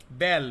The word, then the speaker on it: belle: इसका प्रोनाउंसिएशन होता है बेल, BELLE।